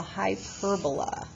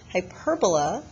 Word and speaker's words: hyperbola: section is called the hyperbola hyperbola or hyper bola as some people pronounce it with r again we're